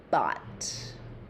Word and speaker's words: bought: Okay, the answer is bot. But English spelling is crazy.